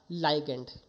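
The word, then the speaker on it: ligand: ये है आपका लाइगेंड। ठीक है? कई लोग इसको लीगेंड बोलते हैं। कई लोग इसको लीगेंड बोल देते हैं। ठीक है? तो सबका अपना-अपना प्रोनाउंसिएशन है।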